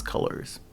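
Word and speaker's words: Coolors: colors um I think I think it's meant to be pronounced as colors but we'll call it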